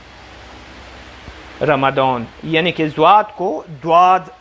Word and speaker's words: رمضان: مثال میں دیتا ہوں۔ رمضان ایک مہینے کا نام ہے، اہل عرب اس کو اس جیسا تلفظ کرتے ہیں، رمضان، رمضان، یعنی کہ ضاد کو